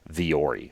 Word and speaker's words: Vuori: wardrobe is now from a company called Viori. It's spelled Vuori.